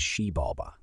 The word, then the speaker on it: Xibalba: According to their cosmology, below the earth was a dark realm called Xibalba, pronounced as Xibalba, Ba, which means place of fear.